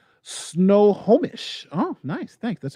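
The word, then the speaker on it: Snohomish: greatest idea i've ever heard of kimberly says snow homish oh nice thanks that's how it's pronounced thank you kimberly mother of is that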